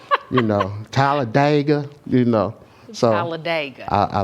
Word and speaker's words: Talladega: You know, Talladega. You know. So Talladega. I like it. Yeah. People that's not from there call it Talladega. But we from Talladega. there, we call it Talladega.